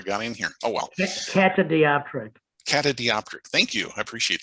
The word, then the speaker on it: catadioptric: The most often known compound telescope is well, they're also called Cadiotroptic. I should have actually looked up how to pronounce that word before I got in here. Oh well. Catadioptric.